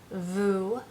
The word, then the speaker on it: vous: want to talk about Vu meaning you but as in multiple plural people so Vu um one quick way I remember is obviously it also rhymes with the English word u um and Vu uh